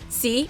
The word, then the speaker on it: Sy: Sy (pronounced see) is the lead in everyone's new favorite Netflix series Lupin.